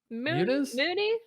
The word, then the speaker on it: Muniz: the list uh frankie munez oh he is les munich how do you say munich muniz frankie mooney frankie buschemi uh